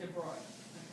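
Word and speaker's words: de Broglie: It's spelled DeBroglie, but it's DeBroglie.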